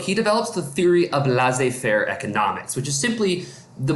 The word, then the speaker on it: laissez-faire: So when you look at the word laissez-faire, laissez kind of sounds like the word lazy. Fair, you could just say father, because it both starts with F.